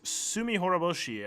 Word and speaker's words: Tsumihoroboshi: It's called Chapter 6, Tsumihoroboshi, I believe is how it's pronounced.